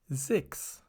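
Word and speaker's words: sechs: Just speak it like 6. Put a German E inside and produce the N slightly harder than in English.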